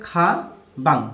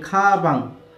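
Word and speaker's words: 가방: তাহলে এটা হচ্ছে খা বাং, বিয়োগ প্রথমে থাকলে খ, মাঝে থাকলে ব, থাকলে বিয়োগ মাঝে থাকলে ব, আর এটা তো অনিশ্বর, তাহলে খা বাং।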